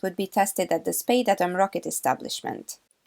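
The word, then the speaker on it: Spadeadam: be tested at the Spade Atom rocket establishment. Excuse me, I think you'll find it's pronounced Spedidum, duh. Yeah, no, it's not.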